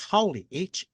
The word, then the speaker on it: Haole: The actual spelling is of in Hawaii is Haole, Haole, and it is a Hawaiian term that's meant that means foreigner.